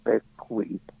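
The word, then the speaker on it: Bequia: Caribbean in the Eastern Caribbean an island called Beckle it is spell beq UIA a but it is pronounced becke and it is an island governed by the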